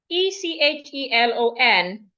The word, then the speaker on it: echelon: The ch sounds like sh.